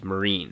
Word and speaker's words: Meereen: But we got 2 new locations: the Dreadfort and Meereen. Right, that's how it's pronounced.